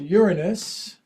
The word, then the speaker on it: Uranus: Venus Jupiter Saturn Mars even uh Neptune and Uranus that's how you pronounce it Uranus is up there but you